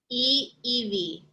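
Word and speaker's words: ʻIʻiwi: these lessons correct okay one you pronounce every single vowel correct yes so there's three vowels there and if you know a little bit of spanish it helps because i is pronounced the e sound is in the double e um so e ev and then the apostrophe is a pause thing right right but i probably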